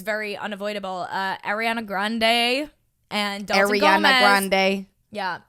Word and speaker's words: Grande: Ariana Grande and Dalton Gomez.